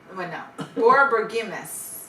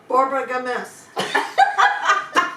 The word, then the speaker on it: borborygmus: all right, Judy, you pronounce that word. Borborgimus. That's not. Borbigmus. Borbigmus. Okay, Carol. Borborygmus.